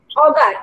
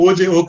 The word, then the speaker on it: Auger: Oh, OJ, okay, sorry. Okay, I call it OJ. Okay. Yeah. A-U-G-E-R, OJ. Yeah. Sometimes we will call it Auger, but we normally pronounce it as OJ electron spectroscopy.